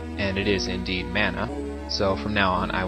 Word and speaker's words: mana: that would be that I looked up the pronunciation of the word mana, and it is indeed mana, so from now on I will be saying it as mana.